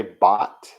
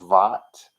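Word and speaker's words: בת: uh we usually say bot but because it's in the sentence the way it is we would pronounce it with the harder V sound vat but it is the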